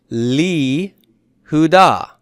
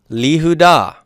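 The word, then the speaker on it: לִיהוּדָה: Now, how will this sound? Le Yehudah becomes Li Hudah. Li Hudah. Well, you know what that sounds like? Li sounds like a Kirik Yod, doesn't it?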